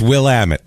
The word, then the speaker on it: Willamette: It's Willamette is what it is.